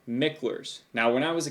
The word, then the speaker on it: Micklers: I learned how to read and write, and he's sitting there telling me it's Michler's, and I'm like, there's no E in there. It's Mickler's.